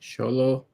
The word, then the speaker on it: Xolo: xox exolo how do you say his name sholo sholo sholo it was basically him uh um